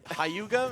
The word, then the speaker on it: Hyuga: And this man is all about the pronunciations. Yeah, dude. Hauga, man.